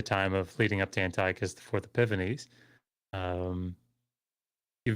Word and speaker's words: Antiochus: I I actually got into a discussion with somebody a while back about um Antiochus uh specifically in Antiochus.